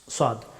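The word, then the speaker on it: ص: স আস স সু আস সদ হরফটি মুখবর্তী করে উচ্চারণ করতে হয়।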